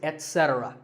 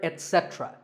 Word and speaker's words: etc: number three is etc a very common in correct pronunciation is to say ech etc instead of it don't say that and also remember that the stress is unset so the word is etc you will also hear etc that is less common but it's okay too next up is often